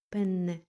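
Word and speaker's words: penne: Дуже важливо чітко вимовляти подвоєння. Пенне.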